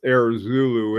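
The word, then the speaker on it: Heure Zulu: Uh, after we get our first design, it'll go in with the Air Zulu, Heurezoulou, but it's pronounced Air Zulu and it means Zulu hour.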